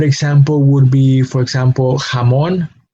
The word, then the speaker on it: jamón: And a good example would be, for example, jamón. Jamón is spelled with a J, and it produces a similar sound to its English equivalent, which is spelled with an H, no?